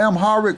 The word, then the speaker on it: Amharic: I pronounced it separately until I heard like people be pronouncing it how it's pronounced, how people pronounce it generalized. Okay, it's Amharic. This is correct. But I was pronouncing it Amharic.